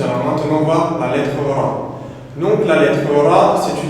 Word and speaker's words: ر: Car la lettre ra, c'est une lettre qui, dans la prononciation, va faire un R roulé. Si vous avez déjà fait de l'espagnol à l'école, ça va être exactement le même son.